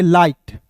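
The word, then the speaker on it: light: एच टी को पढ़ेंगे लाइट अब देखिए यहां पे समझिएगा एस यू एन को सन और एल का ल और आई जी एच टी का उच्चारण आई के रूप में करते हैं दोस्तों हो जाता है लाइट।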